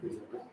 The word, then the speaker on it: déjà vu: Eso se llama un déjà vu, se pronuncia así, déjà vu, un déjà vu.